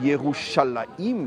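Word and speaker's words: ירושלים: Shalem qui est les la dernière partie du mot Yérou Shalem. On dit Yeroualaim. Bon, je vais pas vous faire un cours en hébreu mais ça se prononce Youaïim mais en dans l'écriture il est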